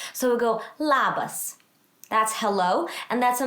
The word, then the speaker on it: labas: to say hello and this is how you say it la bas and i've put a little like a little take that way so that you know where the accent of the word goes so we go labas